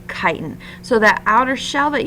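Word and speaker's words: chitin: arthropods and fungi I know that looks like chitt but it is pronounced kiten so that outer shell that you see on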